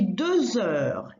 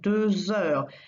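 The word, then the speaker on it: deux heures: Il est 2 heures. Il est 2 heures. It is 2 o'clock. 2 heures. And notice the Z liaison sound because heure starts with an H, which is silent in French.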